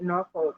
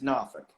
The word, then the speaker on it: Norfolk: how do you say i i always say norfolk and like my friend is always from there is not how you say it yeah no it's it's norfolk yeah nor nor yeah yeah um so if